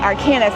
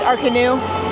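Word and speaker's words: Arcanus: Well, I've been saying it aranis this whole time. Realized, of course, high school French hasn't served me very well. It's our canoe.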